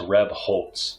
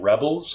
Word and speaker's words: Rebholz: It's pronounced Rebholz. So I either get Rebels or Rebholz, because people like to put the T sound in between the L and the Z because they think it should be there.